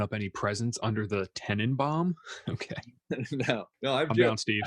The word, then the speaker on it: Tannenbaum: I know what Tannenbaum means. Then you gotta say it right. It's Tenenbaum.